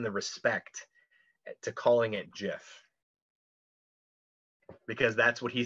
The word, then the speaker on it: GIF: we owe him the respect to calling it jeff because that's what he says it is he